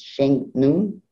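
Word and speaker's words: Shennong: And the way that this person's name is pronounced is Sheng Nun.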